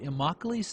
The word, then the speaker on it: Immokalee: this part of Florida has a name that rhymes with broccoli but imi's thing is tomatoes endless